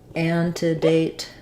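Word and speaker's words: antedate: date has the a an to date um with the stress on the date so I would write that like and an toate um secondary stress on date sorry and primary stress on an anate anate um yeah okay I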